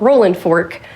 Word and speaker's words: Rolling Fork: Um, but the town, it's spelled rolling fork, but I do not say it that way because that's not how the locals say it.